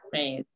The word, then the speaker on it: Rhys: Jean Rhys.